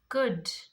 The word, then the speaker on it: could: So when does L become silent? Should, could, would. This all words L is silent.